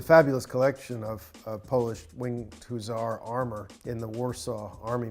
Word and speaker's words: hussar: So it's hussar.